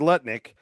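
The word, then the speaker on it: Lutnick: Uh, Howard Nutlick was on a podcast and this made headlines. Um, first of all, Howard, I'm going to say his name correctly here. Howard Letic um, he used to be neighbors with Jeffrey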